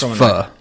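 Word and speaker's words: phở: It's pho. I'm off on everything today. Okay, well, I should know this. My wife is Vietnamese, so I should know how to pronounce pho. It's pho. Yes.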